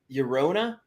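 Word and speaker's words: Llorona: like that stuff tears of uh of yorona yorona bro that's how you say it yeah i'm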